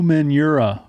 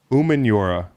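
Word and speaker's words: Umenyiora: what he said oh manure he said people have been saying it wrong for 11 years umanura ooh but he allowed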